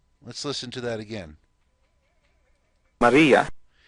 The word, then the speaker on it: Maria: Maria. Let's listen to that again. Maria. You notice the R has a rolled sound. It's almost like a D.